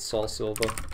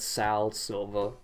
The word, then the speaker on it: Soul Silver: How could you not love heart gold and soul silver? Funnily enough, when I was a kid and couldn't fucking pronounce anything, I called it Sal Silver instead of Soul Silver.